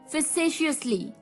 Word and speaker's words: facetiously: तो चलिए the second word for the evening is, well दोस्तों, ये भी एक अच्छा वर्ड है, facetiously।